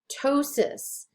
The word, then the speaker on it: ptosis: pena phobia plasia plasti ptosis when you have p in front of a t you don't pronounce the p you just pronounce the t so this is ptosis rhea watch out for